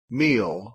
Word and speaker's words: meal: meal, Meal. Meal. Meal. Algunas personas comentaron que escucharon miel. ¿Por qué pasa esto? Lo que pasa es que la L inglesa puede cambiar el sonido de la vocal previa.